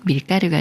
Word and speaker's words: 밀가루: 소리인 끄로 소리내는 경우예요 먼저 미에 리을 받침 소리인 을를 붙여서 미을 미을 밀이라고 읽어요 밀 다음에 가루라는 말이 와서 밀가루가 되는데요 밀가루랑 밀로 만든 가루에요 따라서 미리 가루를 꾸며 주는 말이고이 꾸며 주는 말에 리을 받침이 기억을 만나면 쌍기역 소리인 끄로 바뀌어서 밀까루 아고 읽어요 밀가루